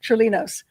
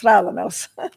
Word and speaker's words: Tralanos: But you'll hear me pronounce my name, Trilinos. But it's Tralanos. Tralanos.